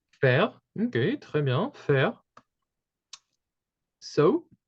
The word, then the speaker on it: faire: This is Bethan, an idea maybe of how you would pronounce the verb? Faire. Faire.